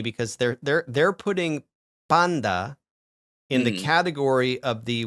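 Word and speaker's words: πάντα: So, what you're going to hear is you're going to hear restored pronunciation. the Arasmian school of thought, it's going to be panta, right? Panta. Okay. Yeah. But the Greeks don't say panta because when that N starts vibrating your vocal cords, it's going to change the pronunciation of the T to sound more like D. Okay? Because once that T starts vibrating, it becomes the alophone D.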